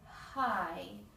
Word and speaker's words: high: And high. One has the expected H sound. The second H is silent.